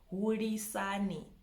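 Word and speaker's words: Hulisani: It has the L, which is not an R, guys. It's not an R. It's an L. Huri, ri. You know, you gotta ri. It's like a strong sound. Hurisani.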